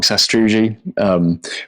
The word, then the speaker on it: sastrugi: uphill when there's Sas- I've always pronounced it wrong Sastrugi just a small sort